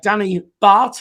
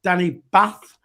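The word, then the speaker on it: Danny Batth: informed by terry that it is pronounced uh danny bart and not danny bath is that right that's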